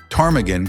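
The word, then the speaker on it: ptarmigan: Fun fact, tarmaggan comes from a Scottish Gaelic word meaning croker because of its low grumbly call. And yes, the P is silent because English.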